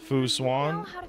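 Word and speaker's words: Fu Xuan: to say it I'm bad at it it's Foo swan Stars so yes for physics I'm not a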